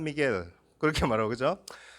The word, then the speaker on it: Miguel: 제가 필리핀 가서 그 산 미구엘 달라 그러니까 그 사람들은 발음을 산 미겔 이래 발음하더라고요. 미구엘이 아니고 미겔.